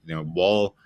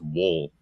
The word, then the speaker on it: Wall: Like, Wall definitely. And by the way, I think he likes his name to be pronounced Wool, so I'll try to remember that.